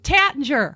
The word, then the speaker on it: Taittinger: those two Tay don't say I'm like Oh Tattinger yeah exactly and I've said it wrong for